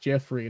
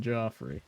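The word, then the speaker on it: Geoffrey: It is pronounced Jeffrey, not Joffrey.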